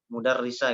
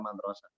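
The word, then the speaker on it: مُدَرِّسَة: derita itu artinya nah Lalu gimana Kok kita bisa membacanya guru ya mudarrisa gitu bukan madrosah anak kita lihat kata setelahnya itu adalah cholibah tak berarti itu jelas yang hadihi mudarrisa bukan merusak Ya baik kemudian yang yang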